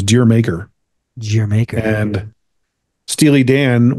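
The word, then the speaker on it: D'yer Mak'er: You'd read it as Dyer Maker. Right. Which is Deer Maker.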